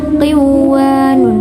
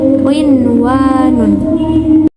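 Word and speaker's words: قِنْوَانٌ: Nah, karena qinwanun, sinwanun, bunya, dan dunya itu terjadi dalam satu kalimat, maka harus dibaca jelas qinwanun, sinwanun, dunya, dan bunya, bukan qiwanun, bukan, tapi qinwanun.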